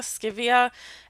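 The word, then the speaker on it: Scivias: book uh sk skevia scivia s-c-i-v-i-a i think it's how it's pronounced um which i also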